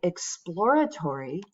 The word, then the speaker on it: exploratory: If you look up a word like exploratory, the online dictionary will tell you how to pronounce it. Exploratory here is trying to show you that that second syllable gets the stress, right?